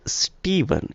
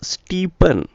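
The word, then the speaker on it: Stephen: we are diverging in s t e p h e n it's Steven it's Steven the pronunciation right dictates steeven and it's not steepen it's not steepen so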